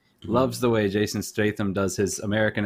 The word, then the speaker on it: Statham: He's also from the UK, and he loves the way Jason, was it Statham? Is that how you pronounce his name? Mm-hmm. Loves the way Jason Statham does his American accent because his American accent is just his British accent, but deeper.